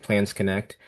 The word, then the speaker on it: Plans Connect: which she does a really good job with Plans Connect LLC, correct? Is that my pronouncing that Correct.